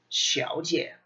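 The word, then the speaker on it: 小姐: It's pronounced Xiao Jie. Xiao Jie. This is that fifth tone. Xiao. Xiao, third. Jie, fifth.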